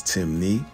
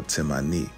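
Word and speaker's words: Temne: Despite the various spelling variations, Timni only has two ways of pronouncing it, which is Timni or Timani.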